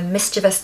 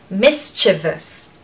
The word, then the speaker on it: mischievous: pronunciation is Miss so the stress is on the first syllable misus chiv so stress the first part and then there's a schw on the end so mischievous mischievous mischievous not mischievous we